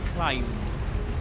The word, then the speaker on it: climb: You don't pronounce the B at the end. You say climb.